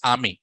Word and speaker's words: AMI: okay amazing machine image but us people will call it as Amy they call it as Amy ah not am Amy okay so because the